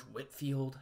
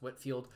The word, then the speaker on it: Whitefield: very famous preachers george whitfield that's how you pronounce that name i know it looks like whitefield it's pronounced whitfield was the minister of